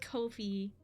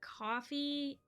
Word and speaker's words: Ko-fi: So it's pronounced Kofive. Yeah, I'm sure it is. I'm gonna go with Kofi, because I think that's how you're supposed to pronounce it. I don't know. Because it's not coffee. It's Kofi.